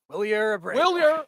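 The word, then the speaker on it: Wilyer: Willer Abrau. I mean, I can't even pronounce his name because it's spelled it should be spelled Willer, BUT IT'S SPELLED W I L Y E R.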